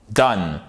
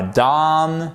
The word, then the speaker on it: done: Done. C'est pas done, c'est pas down, c'est done. Ok?